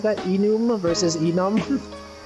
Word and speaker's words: enum: Enum versus enum? It stands for enumeration, which is why I say enum.